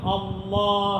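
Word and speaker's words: الله: simple ആയിട്ട് പറഞ്ഞു തരാം അല്ല എന്ന് പറഞ്ഞു നോക്കേ അല്ല അല്ല എന്ന് പറയുമ്പോൾ നാവ് എവിടെയാണ് വെക്കുന്നത്എന്ന് നോക്കുക അതേ സ്ഥലത്ത് വെച്ചിട്ഒന്ന് അള്ളാ എന്ന് പറഞ്ഞു നോക്കേ അതാണ് അതിന്റെ ഉച്ചാരണം മനസ്സിലായില്ല അല്ലാ എന്ന് പറയുമ്പോൾ നാം എവിടെയാണോ വെക്കുന്നത് അതേ സ്ഥലത്ത് തന്നെ വെച്ചിട്ടാണ് അള്ളാ എന്ന് പറയുന്നത് ഇനി ഇതേ ശബ്ദത്തിൽ വരുന്ന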